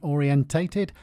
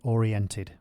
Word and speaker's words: orientated: Okay, sorry about saying orientated. That's just how us Brits say it. I know you Americans say oriented.